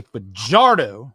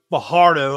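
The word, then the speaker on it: Fajardo: I mean, I'll say his name right. Cody Vardardo. There you go. Bardo, like I was saying for half the season last year and you corrected me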